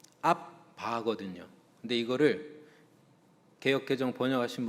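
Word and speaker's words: abba: 그리고 여러분 영어로 보시면 a bba 아바라고 아라모로 써 있습니다. 아라모 발음. 그러니까 정확하게는 앞바거든요.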